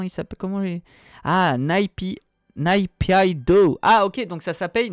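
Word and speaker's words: Naypyidaw: salut Francy pour l'information le nom de la capitale de la Birmanie se prononce naipido merci d'avoir lu ce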